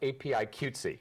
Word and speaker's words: APIQWTC: And one that I know you founded and now has quite a growing presence is, I know it's pronounced APIQWTC.